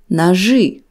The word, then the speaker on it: ножи: After letters ж and ш, the letter и is pronounced as ы. Нож, ножи.